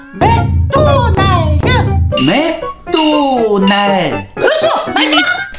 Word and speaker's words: 맥도날드: 선생님 그 한국어 발음이 조금 이상한 것 같아요. 그래? 그 내가 어떤 발음이 이상한데? 그 아까 전에도 음악을 음악그라고 하고 칭찬을 칭그찬이라고 하셨잖아요. 그게 뭐가 이상하지? 음악그, 칭그찬 맞지 않아? 네, 맞지 않아요. 특히 조금 전에 마크도 나르도가 제일 이상했어요. 그럼 뭐라고 발음해야 되는데? 그냥 맥도날드 이렇게요.